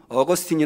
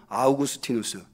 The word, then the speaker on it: 아우구스티누스: 신학의 기초를 놓은 온 어거스틴이 라고 알려져 있는 아우구스티누스 원래 이 사람 분명히 아우구스티누스 예요 야구 스틴 어스를 이제 미국식 발음으로 하면 얻었으니 라고 하게 되는 거죠 이 아우구스티누스가 빛과 관련해서